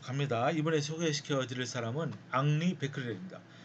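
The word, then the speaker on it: Henri: 이번에 소개시켜 드릴 사람은 앙리 베크렐입니다. 헨리라고 읽으면 안 됩니다. 이제 프랑스 사람이니까 앙리 베크렐.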